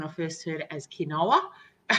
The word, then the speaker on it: quinoa: and we'll talk about oats in a second quinoa um i don't know about you but i used to pronounce it when i first heard it as quinoa it's not cake no it's quinoa rice and